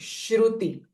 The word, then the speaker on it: श्रुति: मती श्रुति सम ना दिस ती इ रस्व श्रुति एंड श्र इज अ पिकर साउंड श्रुति श्रुति सस्तु वैभवा मन